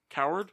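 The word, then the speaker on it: Cowherd: personally think that it i can never pronounce his name is it colin coward colin coward coward yeah like coward yeah colin coward is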